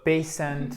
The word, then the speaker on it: patient: Patient et pas patiente ou patient ou non. Patient, non. Patient. Yes. C'est exactement le même son que dans to pay.